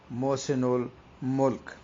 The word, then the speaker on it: محسن الملک: دیکھا ہے کہ یہ بعض بچے ایسے ملک پڑھتے ہیں، بعض ملک پڑھتے ہیں، جبکہ درست جو اس کا تلفظ ہے نواب محسن الملک۔ اب دیکھیں کہ نواب